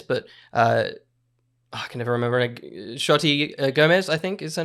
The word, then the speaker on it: Xochitl: I think it's pronounced Xochitl. Xochitl. There you go. I think. Joshy wrote a note somewhere, so I'm going to find it. I think it was Sochi, but I'm not sure.